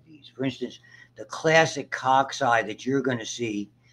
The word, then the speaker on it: cocci: spherical or ball shaped we call it a caucus is how you pronounce it cocci is the plural and they can have